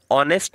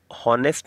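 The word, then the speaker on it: honest: चलिए नेक्स्ट बात करते हैं, ही इज़ एन ऑनेस्ट मैन, तो यहाँ पर जो ऑनेस्ट है, अब बेटा इसको प्रोनाउंस जो करना आपने हॉनेस्ट नहीं करना, ऑनेस्ट करना, एच इसमें क्या है, साइलेंट है।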